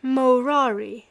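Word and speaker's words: morari: way of jest that he had ceased murari amongst men pronouncing the first syllable long and treated as null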